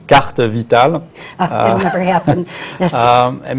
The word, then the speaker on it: carte Vitale: The only thing I would have to correct is maybe the pronunciation. It's carte vitale.